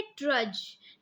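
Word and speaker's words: trudge: Next है ट्रज. ट्रज में भी डी जो है वो साइलेंट है.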